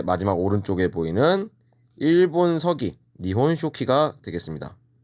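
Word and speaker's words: 日本書紀: 그 다음에 마지막 오른쪽에 보이는 일본 서기, 니혼쇼키가 되겠습니다.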